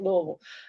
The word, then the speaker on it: Louisville: know I'm from Louisville I know how to pronounce it I really am from Louisville I mean you know Louisville or however foreigners say it but we just say it Louisville uh but yeah so